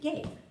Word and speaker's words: Gabe: So how can I make this A an A sound with a silent E at the end? And that's the name Gabe.